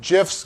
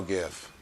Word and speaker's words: GIF: in the I know gif keeps it like keeps it fun yeah they send emojis they send you know pitchy yeah you right yeah all right keep going G hard G for gift graphic interface it stands